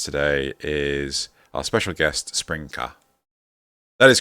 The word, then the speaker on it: SprinKah: have with us today is our special guest spring car that is correct isn't it that's how you pronounce it yes yeah cool there we go